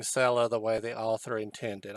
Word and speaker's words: Sela: idea whether i'm pronouncing cello the way the author intended i apologize if i am not but i could not resist pronouncing it as many peoples including my people might pronounce the word seller s-e-l-l-e-r because the seller